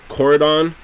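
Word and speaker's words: Koraidon: pokemon scholar is called coradon i think the eye is silent in these names and those pokemons violet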